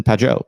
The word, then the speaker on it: Peugeot: Shout out to Jonathan Peugeot. Peugeot, is that how you say it?